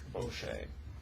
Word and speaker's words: Boucher: Correct me if I'm wrong, but is the last name pronounced Boucher? It's been pronounced several ways. So Boucher is fine. I'm sorry. That's fine. Do you have a preferred pronunciation? Boucher.